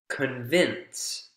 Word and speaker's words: convince: and and a root the stress goes on the root form not the prefix the prefix is unstressed